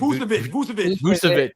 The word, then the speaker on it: Vucevic: He took Nikola Vucevic. How do you say it? Vucevic.